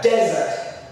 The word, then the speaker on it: desert: Now, and the other way also, it can be a desert. A desert. In that case, the de is the stressed syllable.